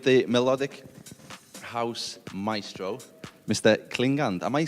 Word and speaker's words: Klingande: It's tricky, but there is no right way to say it, but I prefer Klingande because it's a Swedish word, and the Swedish word is Klingande, but I prefer to say Klingande.